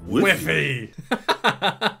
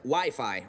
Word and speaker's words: Wi-Fi: crazy to imagine a life without internet now wiffy it's actually pronounced Wi-Fi Ralph yeah that's what I said okay Sonic